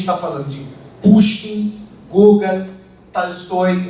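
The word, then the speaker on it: Толстой: Aqui a gente está falando de Pushkin, Gogol, Tolstói. Vocês veem que a minha pronúncia Tolstói, vocês já tomam eu Tolstói.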